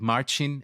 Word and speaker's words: Marcin: a smile on our listeners lips uh by mispronouncing your name Marchin but you'll have the time to correct me in a moment um I'm here with Marchin uh to talk about uh his career for